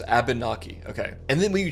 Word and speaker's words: Abnaki: Also, I hope I pronounced that right, dude. I I don't want to mispronounce a native like name. It's Abnaki.